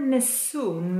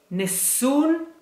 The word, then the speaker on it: Nessun: miss Soong daughter named sue Dollarama the word Nessun means nobody and here in Italian we say